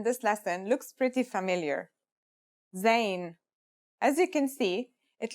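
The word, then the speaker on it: زاي: a DOT on top in terms of pronunciation you say just like the English Z as in zebra or al-jazeera practice saying Al Jazeera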